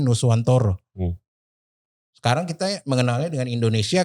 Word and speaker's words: Nusantara: Nusantara itu kan dibacanya Nuswantoro.